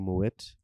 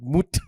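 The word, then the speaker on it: Moët: talking about you know Moet champagne some people pronounce it in my way but it's actually more wet yeah but these Afrikaans guys were telling me they call it moot like brah he brought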